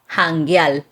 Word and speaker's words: janguear: So janguear. It's like adding a Spanish verb ending to the end of an English word. Just in this case, it's spelled with a J instead of an H. And they would say jangueal. Right. Almost always with the R to the L sound.